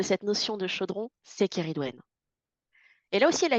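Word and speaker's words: Ceridwen: La deuxième qui lui est accolée, qui est toujours du 31 octobre au 2 novembre, Sériwen, comment vous dites? Kéridwen. Le C se prononce G, c'est ça? Kéridwen.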